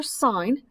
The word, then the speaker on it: sin: remember it s for sine we abbreviate it s i n but this is pronounced sine so s for sine